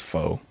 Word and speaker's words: pho: It's pho. It's pho. Pho until my death. An agent told me. I would tell that Asian, sir, it's a long O at the end.